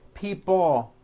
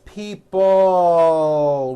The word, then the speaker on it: people: this last word people it's not pronounced people with your tongue not moving it's people with your tongue slowly moving up and your jaw remaining down stretch out that l sound people like that here